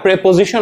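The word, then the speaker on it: preposition: না, আমাকে তখন একটা প্রেপোজিশন বসাইতে হবে। এটার উচ্চারণটা হলো প্রেপোজিশন, অনেকে আসলে প্রিপোজিশন বলে, তো ছোটবেলায় আমিও সেটাই পড়েছি, তো আসলে উচ্চারণটা হবে প্রেপোজিশন, এবং ডিরেক্ট অবজেক্টের পরে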